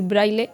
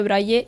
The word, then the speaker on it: braille: lo largo del vídeo me escuchéis decir braille no se dice así se dice brille y yo de verdad